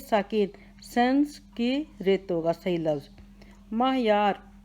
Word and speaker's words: معیار: سنسکرت ہوگا صحیح لفظ۔ معیار، میم کے اوپر زبر، عین ساکن، یہ کے اوپر زبر، الف بھی ساکن، رے بھی ساکن، معیار۔ میم زبر ما، عین زبر، میم زبر عین ما، یہ زبر الف یا، رے ساکن، معیار۔ صنعت ہے، صاد کے